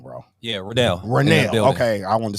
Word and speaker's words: Ranell: And we got my man, I don't want to say your name wrong, bro. Yeah, Ranell. Okay, I wanted to say Ranell.